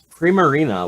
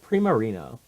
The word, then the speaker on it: Primarina: I guess Incineroar isn't that bad either, but Primarina. So it's like Primavera and Marina or something like that.